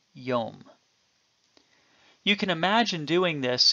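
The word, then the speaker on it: יום: certain vowels for instance the Hebrew word which would have been written yod MIM was known that it should be pronounced yum and the o sound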